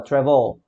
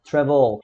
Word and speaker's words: travel: Mas no Reino Unido, a última sílaba para esse mesmo verbo já é a última, a CVC, né? Então a gente lá fala travel, travel.